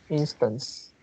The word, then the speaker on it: instance: i think this is instance oh i pronounce uh something like in uh instead or something like that oh instance instance oh so so i didn't pronounce the end and right oh yeah instance putting these all together